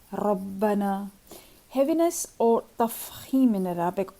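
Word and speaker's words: رَبَّنَا: Ra with the Fatha and Dhamma is always heavy, like Rabbana.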